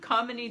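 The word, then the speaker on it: Kamini: by a woman named come in II have come in E common Eve how many I'm sorry I knew that wasn't right my emphasis on the wrong syllable there comedy just sigh and it's actually her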